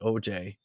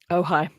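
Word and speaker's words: Ojai: church of OJ is that really how it's pronounced OJ in California oh high that's pretty oh is it oh high is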